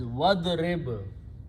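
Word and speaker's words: وَاضْرِبْ: When you pronounce together, don't pronounce alif, it becomes hamzatul wasl. So the pronunciation is wadrib.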